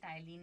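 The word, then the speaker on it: ptyalin: पी हमेशा silent रहता है, बट लिखना ऐसे होता है, जिसे हम कहते हैं पटाइलिन। आप ऐसे याद रख सकते हो, बट इसे हम बोलते हैं टाइलिन है।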